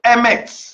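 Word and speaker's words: Emeth: Bien-aimés, en hébreu, le mot vérité dans l'Ancien Testament, c'est Emet.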